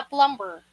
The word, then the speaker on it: plumber: Yeah, plumber. Okay? Pero po, silent B yan. Plumber. It is pronounced as plumber.